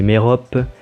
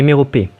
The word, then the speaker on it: Mérope: Je prononce Œdipe et non Édipe, comme je dis Polybe et Mérope, et pas Polybe et Méropée.